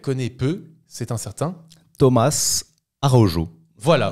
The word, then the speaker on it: Araújo: c'est un certain Thomas arojo voilà on va dire c'est ça pour la prononciation en portugais c'est plutôt euh oui c'est vrai c'est plutôt le J ou j'ai envie d'être